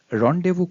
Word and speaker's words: rendezvous: it's a kind of tongue twister and correctly pronounced as Ron de vu moving further to its meaning which is to